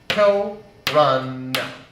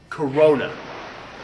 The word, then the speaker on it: Corunna: You see, it's actually pronounced Corunna. Corunna, not Corona, the cerveza served with lime, consumed in mass quantities every Cinco de Mayo.